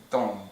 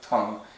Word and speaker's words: Dong: great-grandfather is a Yi it's spelled either t or d but it's still pronounced dong not dong or Tong but uh you go